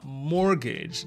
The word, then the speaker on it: mortgage: Это у нас слово mortgage.